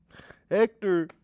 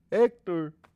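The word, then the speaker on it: Héctor: named Hector technically because you don't say the H Hector Hector did you just make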